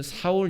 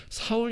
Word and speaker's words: 사울: 이름입니다 철수 0 이처럼 똑같은 이름이 히브리 식으로는 4월 이라고 발음을 하고요 헬라어로 는 그 같은 단어를 바울 이라고 발음하는 겁니다 같은 사람인 것이죠